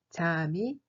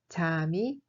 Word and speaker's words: 잠이: 잠이 se prononce en réalité comme 잠이, 잠이.